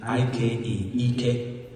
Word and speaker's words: Ike: are foreign gods inc there's a character called named ike strength and power but a slight inflection in the pronunciation ek will mean a botox you know so this guy and americans will call him ek ek you know and